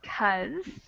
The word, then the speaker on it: because: Because gets shortened to just cuz.